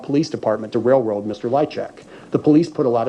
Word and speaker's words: Lychwick: And as we were sitting down and thinking about what is the most, you know, so his name is Lichek. Even though it's spelled life, I don't know nothing.